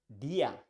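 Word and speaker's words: día: see the next one e which is the same sound that you find in words in English like B I'm watching Spanish like DIA e DIA which DIA means Day in Spanish you pronounce that DIA DIA let's see the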